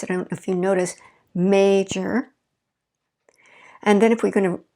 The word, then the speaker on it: major: stress history historic okay major first stress is on the first syllable major we fall in our voice i don't if you notice major and then if we're